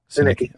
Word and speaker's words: Sinicki: I know that you and Christine, is it Sinicki or Sinichi? I always say it wrong. Sinicki. Okay. So Christine Sinicki is a state representative for Wisconsin.